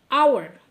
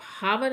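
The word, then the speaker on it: hour: आवर इसको आप हावर नहीं बोलेंगे। तो एच अगर आप हावर बोलेंगे तो तो ठीक है। फिर तो अ आ गया। नहीं दैट्स रॉन्ग क्योंकि आप उसका प्रोनाउंसिएशन रॉन्ग कर रहे हैं। आप इसको आवर प्रोनाउंस कीजिए। आवर और आवर जब आप प्रोनाउंस करते हैं तो वोवेल की साउंड आती है कंसोनेंट की नहीं।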